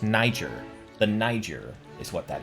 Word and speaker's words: Niger: how to say it it's pronounced Niger the Niger is what